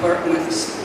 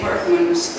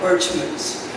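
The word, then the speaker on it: Berchmans: John Berkman's, and I'm saying Berkman's, and most people around here pronounce it as it's spelled, Birchman's. But when we started the boys' school in 2006, we asked the Jesuits what was the correct pronunciation, because John Berkman's was from Dietz, Belgium, which is in the Flemish part, is really pronounced Berkmans. So both are acceptable, but that's why you'll say Berkman's.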